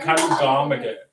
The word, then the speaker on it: Kalugamage: Krishan, I think it's Kalugamajay. Gosh. Gamagay. Kamage, yeah. Kalugamage. I got it. Right? There you go. Is it Kalugamage, right?